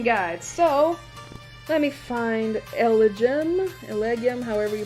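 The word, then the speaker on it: Elgyem: So, let me find Elegum, however you pronounce it. There it is. LGM.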